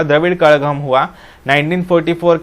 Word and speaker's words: Kazhagam: ZH लिखा है KAZHAGAM, लेकिन तमिल भाषा में इसका ZH का प्रोनाउंसिएशन ळ ऐसा होता है। मतलब तमिल का वो स्पेलिंग ऐसा लिखते हैं TAMIZH तमिल, तो इसका प्रोनाउंसिएशन कजगम नहीं होता, कड़गम होता है, द्रविड़ मुनेत्र कड़गम।